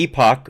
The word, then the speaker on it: Epoch: here from the um depend depending on where you go to school or the epoch or the epic times i've heard it pronounced both ways by people who work for the organization just so you know